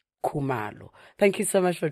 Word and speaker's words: Khumalo: Nkosiyati Khumalo.